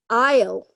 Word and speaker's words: aisle: complete the chart so aisle yes exactly Arjun so the S in Aisle is missing okay so aisle the